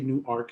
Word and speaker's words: Newark: in newark delaware and you have to say new arc because we do pronounce both syllables unlike a neighboring city